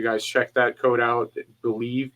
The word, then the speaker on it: BLEAV: Believe, BLEAV, for your 50% welcome bonus. I said it right that time.